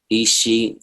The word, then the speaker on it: Isha: So I'm definitely gonna check out this, and let me make sure I'm saying it right. Isha. Isha.